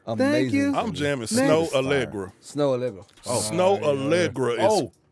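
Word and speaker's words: Snoh Aalegra: jamming Snow Allegra.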